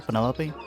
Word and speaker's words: Penelope: is that short for Penelope officially yes but I never can be bothered with all four syllables of it Penelope sounds a